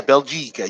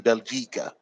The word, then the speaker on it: بلجيكا: Bel is what? It's the bell with the fat and the sukoon on the lamb. So bel, G cat, gene on the kesser on the gene.